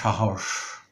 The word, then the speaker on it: সাহস: যেমন সাহস, এই যে শব্দটি, এখানে দন্তস্ব, দুটো দন্তস্বই কিন্তু তালব্য স এর মতো উচ্চারিত হলো।